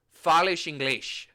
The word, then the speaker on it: inglês: I think in Portuguese it's hola, but it's O-L-A, and then it's like fales inglês. Like there's a shish on the both, and that surprised me.